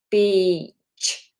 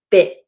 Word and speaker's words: beach: Beach, beach. Okay, really important that we get that long vowel in there. You don't want to say bit.